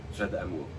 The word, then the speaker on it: Jade Amour: Jade Amour. Jade Amour. Jade Amour. So that's how I say it in English, obviously. But he's got the great French accent there.